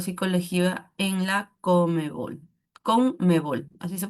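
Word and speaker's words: CONMEBOL: También cuenta con un diplomado de psicología deportiva y varios cursos con respecto a psicolea en la Comebol, COM Comebol, así se pronuncia.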